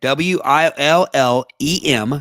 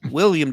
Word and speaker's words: Willem: Okay, Willem. So Willem IJNS. The J is probably silent. Willem Dafoe. That sounds like something with your mouth. No, William Dafoe just is missing the I, like it's Willem.